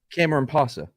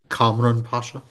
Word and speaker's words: Kamran Pasha: Cameron Pasa. Yeah, can you say it? Cameron, how do you say his last name? Kamran Pasha.